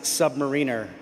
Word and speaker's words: submariner: Huya Navy and it is it is it's this is controversial but it is pronounced submariner.